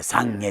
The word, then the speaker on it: 散華: 散る花って書いて三下って読みます。